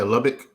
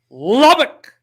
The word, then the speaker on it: Lubbock: Lee Davis out of Texas Lubbock am I pronouncing it right yeah Lubbock yeah Lubbock uh we need a kneel down situation so